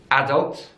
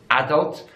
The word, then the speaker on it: adult: the world so in British English is adults adults so the stress is on the first syllable but an American English is adult and don't so the stress is on the second syllable adult adult in British